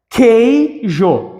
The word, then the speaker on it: queijo: u não é pronunciado se o u não é pronunciado eu tenho aqui um dígrafo isso aqui é um dígrafo consonantal inseparável Beleza beleza então é queijo Aqui nós temos um